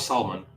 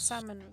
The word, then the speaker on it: salmon: l but I love salmon like that's my go-to fist salmon salmon and a pants salmon good amazing you don't need to pronounce the L by the way pronounce what the L